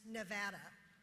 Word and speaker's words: Nevada: The pronunciation of our state is Nevada. It has 3 vowels and none of them are long.